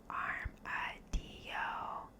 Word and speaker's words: armadillo: during the birth process most Americans mispronounce armadillo it's a Spanish word so you should say it arm a Deo what's it mean you